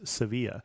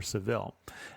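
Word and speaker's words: Sevilla: kadei if you haven't been there already is seevilla or Seville now I did not do that on this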